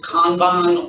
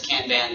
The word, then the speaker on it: kanban: out of our comp it's pronounced kanban or you'll hear it as kanban because it's easier to say kanban like sometimes um when